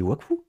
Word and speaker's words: Wakfu: infernal prononcer Wakfu Waku j'ai pas prononcé Waku j'ai dit Wakfu j'ai dit le F Dofus Dofus quoi comprend